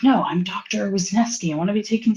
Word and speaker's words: Wisniewski: Wasneski.